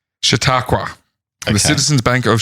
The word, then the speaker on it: Chautauqua: Chautauqua.